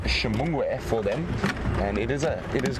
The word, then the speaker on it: Xingmhugwe: But Shimungwe is quite a difficult spelling. I'm going to try for you now. It starts with an X.